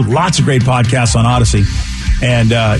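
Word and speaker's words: Audacy: of great podcasts on Odyssey and uh you spell it like this a-u-d-a-c-y Odyssey let's play to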